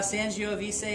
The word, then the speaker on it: Sangiovese: But it was next you have Sangiovese is how I say it.